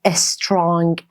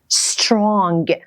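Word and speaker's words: strong: با اس شروع میشه اولش ا نذار نگو استرانگ اون اس رو س س مثل استودنت استودنت استرانگ قویه قویه قویه حالا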